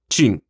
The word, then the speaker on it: Qin: Assim, temos a palavra portuguesa China, que deriva diretamente de Qin, que se pronuncia Qin, com a letra Q pronunciada como um TCH.